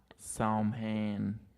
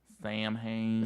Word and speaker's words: Samhain: and some people say Sam hey Sam hey because people pronounce it the way it looks here in America right right which is wrong shout out to my